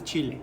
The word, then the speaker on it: Chile: probably Chile Chile Chile I said Chile because that's the way you Americans called the Chilean is like the spicy yeah so it's chilly chilly not Chile Chile Chile okay okay so